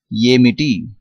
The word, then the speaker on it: ఏమిటి: The actual meaning of what is Amity, but in spoken Telugu, in short form, we pronounce as Enti, and in some contexts we say Emi or Aim.